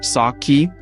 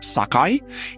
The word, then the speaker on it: sake: You can find the name pronounced saki or sakai in bars and eeries all across the Japanese islands.